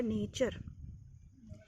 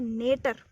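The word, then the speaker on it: nature: नेटर नहीं है बेटा, ये नेचर है, ये नेचर है, इसको आप नेचर पढ़िए।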